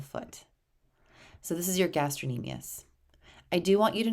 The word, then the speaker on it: gastrocnemius: the gastrocnemius it's spelled gastrocnemius but it is pronounced gastrocnemius the gastrocnemius is there for taking your foot